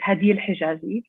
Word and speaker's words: Hadil Hijazi: My name, as correctly pronounced by Elizabeth, is Hadil Hijazi.